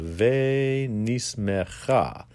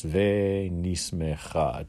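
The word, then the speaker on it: וְנִשְׂמְחָה: Hava Nagila, ve nismecha. So, ve nismecha. Ve, she's got it written as V-A-I, that's fine. Ve nismecha. So, in, you can pronounce that apostrophe of mecha like it's a short E.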